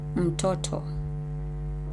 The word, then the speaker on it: mtoto: So M in the first section, it's a syllable, and in these 2 sections, it's not a syllable, right?